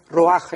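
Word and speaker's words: רוח: otra palabra que es roach se escribe se pronuncia roja en el hebreo entonces vemos aquí que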